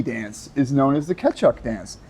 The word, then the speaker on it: Kecak: is known as the Ketchuk dance. It's like Cechuk or some shit. Kecak. But the C K-E. in this language is pronounced as a CH always.